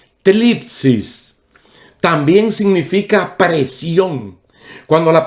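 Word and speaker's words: θλῖψις: La palabra griega que se traduce tribulación es una palabra que tiene una pronunciación un poquito rara en griego. Tlipsis. Tlipsis.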